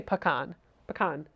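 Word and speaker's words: pecan: do you say again I say pan pan but it's accented on the con not the P right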